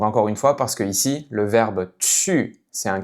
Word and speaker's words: 一: ton avec le caractère "i" "i". Donc par défaut, ce caractère, est prononcé avec le premier ton.